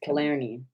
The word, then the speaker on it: Killarney: a big conference in Ireland how do you pronounce that name of that place Killarney Killarney but organized by genspect that went on